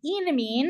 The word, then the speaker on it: enamine: I like calling it an enamine because it has an alkene, so I associated that with ene, like we would say hexene or something like that.